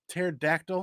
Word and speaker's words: pterodactyl: some other cool stuff why can't you hear a pterodactyl in the bathroom because the pee is silent oh God Pat him